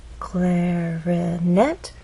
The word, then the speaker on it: clarinet: Clarinet has three syllables, clarinet, but it's the final syllable that is stressed, and there's a pause right after, which means there's nothing following.